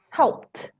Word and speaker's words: helped: So we pronounce it with a t, helped.